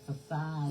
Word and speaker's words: facade: And so then, you put down that how they say it, facade.